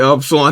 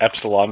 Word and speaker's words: Epsilon: there buddy pressure now is pronounced Epsilon but sure it's a you Epsilon is a completely different word it's a lot yeah that it's absolutely easy Yeezys did you see Yeezys bro hug 10.